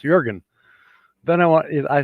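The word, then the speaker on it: Jürgen: i can't help it jurgen is pronoun that's how it's pronounced jurgen then i want it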